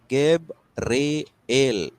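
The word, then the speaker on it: Gabriel: इसका मतलब क्या है गेब्रियल या फिर इसको प्रोनाउंस जब करते हैं गब रे एल यह तीन अक्षरों का जो ब्रेकेज है यहां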